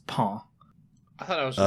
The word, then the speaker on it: pain: Okay, so like, because like I think if I'm not mistaken, the way bread, which is spelled PAIN, is pronounced as paw. I thought it was just pawn.